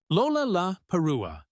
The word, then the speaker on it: Lollapalooza: It contains 4 L sounds in rapid succession at the beginning of syllables. Lollapalooza.